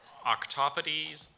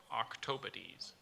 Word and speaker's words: octopodes: Your word is actually pronounced octopodes or octopodes.